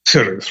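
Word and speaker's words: Ceres: coincidentally largest asteroid uh series is that is that how you say it Professor Series right Series yeah so uh cut to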